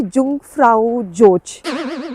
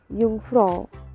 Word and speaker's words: Jungfrau: पहले मैं बोलती थी जुंगफ्राउ जोच. Yes, but कल हम अपने Airbnb होस्ट से बात कर रहे थे. They were like कि it's Jungfrau. मैं फिर भूल गई.